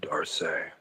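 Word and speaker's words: D'Arce: My wife is actually a high school French teacher and she told me that it's pronounced Darce.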